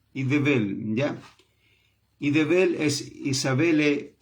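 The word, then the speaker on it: איזבל: lo vamos a ver, Idebel, porque en hebreo la Z se pronuncia como, es como una D pero con Z, Idebel, ¿ya?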